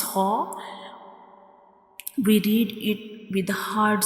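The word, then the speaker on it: حاء: It is a throat letter, and it is pronounced from the middle of the throat. And when we read ha, the sound spills out like ha.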